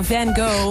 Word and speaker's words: Van Gogh: No, we pronounce it as Van Gogh, but the Dutch painter, Van Gogh.